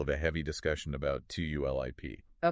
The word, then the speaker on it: TULIP: So, TULIP is pronounced exactly like the flower.